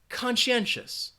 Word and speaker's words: conscientious: conscientious decision all right it has four syllables and you have that schwa in that final syllable say it after me conscientious I am going to